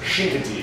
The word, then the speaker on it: Chincoteague: Yeah, the locals pronounce it Chincoteague. Chincoteague. Which is an Indian name.